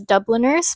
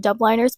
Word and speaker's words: Dubliners: I pronounced it dubliners before. It is Dubliners.